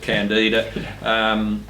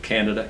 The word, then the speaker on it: Candida: a lot of power they say pronounce it candida but it's a microbiologists tend to pronounce it Canada Canada albicans is the